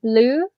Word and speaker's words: blue: blue what's missing Maria blue with an ear right yes okay so that would be the e of course is silent we don't hear it but we always spell